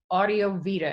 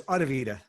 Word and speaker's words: Audivita: So, David, your company is called Audio Vita. Am I pronouncing that correctly? Not quite. It's Audivita. Actually, easier than what you said. Yes, one less syllable anyway.